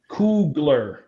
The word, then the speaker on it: Coogler: Is that how you say it, bro? Am I still messing his name up? It's fine. Cool. Say it for me, Norm. Coogler. Coogler. Oh, it's Coogler.